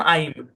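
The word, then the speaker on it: I'm: এখানে আই, এটার ওকে, উচ্চারণ আইম।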